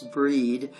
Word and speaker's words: Brighid: Celts this holiday honor the goddess Brighid or bride pronounce breed goddess of the hearth